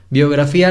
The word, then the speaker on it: biografía: Biografía la separamos así. Biografía. Son 4 sílabas.